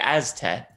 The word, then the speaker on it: Aztet: Pronunciation would be Aztet.